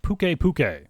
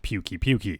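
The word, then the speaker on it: Pukei-Pukei: i went to fight pukei puke as that's how you actually pronounce it not pukey pukey it's still ugly by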